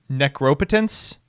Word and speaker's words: Necropotence: well the problem is the right way to pronounce that is necropotence but like it just sounds wrong we got 24 more